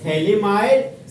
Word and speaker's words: phthalimide: synthesis reaction समझे Gabraal थेली माइड synthesis reaction यहां पर जो आपका पीएच है ना पीएच पीच साइलेंट होता है पीच क्या होता है साइलेंट जैसे याद है आपको